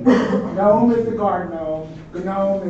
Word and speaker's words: GNOME: programs that we use, it has a G in front of it, you pronounce the G. Okay, that's just the way Linux is. So you don't say GNOME is the guard gnome, GNOME is the graphic user interface.